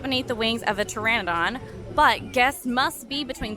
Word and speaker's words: Pteranodon: paradon hair cut p-t-e-r-a-n-o-d-o-n petrodon I'm gonna google that Pteranodon okay I Googled it and I was butchering it Pteranodon the p is silent that makes so much